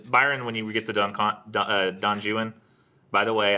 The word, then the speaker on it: Don Juan: Byron, when you get to Don Juan, by the way, I know it's spelled Don Juan, but he says it's supposed to be said Don Juan in the English fashion, and I think it's meant to make that more ridiculous.